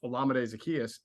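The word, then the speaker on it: Olamide Zaccheaus: something um this year with the with um olamide Zacchaeus I finally pronounce it right uh brought to the mix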